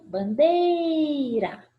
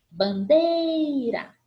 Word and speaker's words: bandeira: E por último, bandeira, bandeira. A sílaba que eu mais me prolongo pronunciando é a penúltima sílaba.